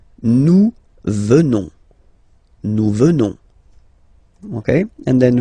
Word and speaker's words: venons: Nous venons, okay, O-N-S, classical ending for nous, okay, final S not pronounced, so O-N, on, venons, venons, nous venons, nous venons, okay, and